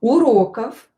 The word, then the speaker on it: уроков: Уроков. Уроков. This word here will be pronounced as f because voiced consonant at the end of the word will become unvoiced.